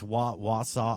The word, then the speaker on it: Wausau: It's Wausau. I can never pronounce it right.